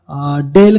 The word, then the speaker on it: Dalle: सिक्कीमची एक वेगळ्या प्रकारची मिरची आहे, जिला डेल खुर्सानी असं म्हटलं जातं. थोडं सोपं आहे लक्षात ठेवायला. डेलचे लॅपटॉप असतात, पण स्पेलिंग वेगळं आहे. बरं, स्पेलिंग इथं DALLE आहे.